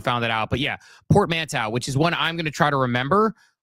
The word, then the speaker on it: portmanteau: I'm glad you pronounced it because I would have called it portmantis. Yeah. Well, the S is actually only there because it's plural, so just ignore that one.